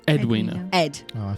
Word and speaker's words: Edwina: Did you say her name was Edwina or Adwina? Edwina.